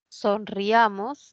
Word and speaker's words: sonriamos: Y luego pasamos a la siguiente, sonriamos, sonriamos, ¿no? La mayor fuerza de la sílaba sería sonriamos.